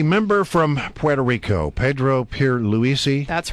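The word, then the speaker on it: Pierluisi: be doing the member from Puerto Rico Pedro Pier Lisi that's right that you pronounced it right did I get it right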